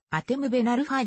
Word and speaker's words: ハテム・ベン・アルファ: あるポジションはフォワードフランス語での正しい発音はアテムべなるファイであるパリ郊外のクラマー